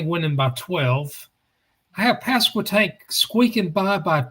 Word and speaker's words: Pasquotank: So you did right, Pasquotank. You pronounced it properly.